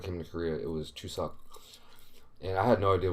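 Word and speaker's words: 추석: It is Korean Thanksgiving right now, aka Chuseok is how you say it in Korean.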